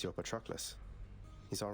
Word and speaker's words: Patroclus: Okay, Patroclus.